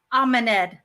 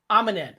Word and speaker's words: AmeNed: Actually, how you say pronounce it properly? AmeNed. AmeNed.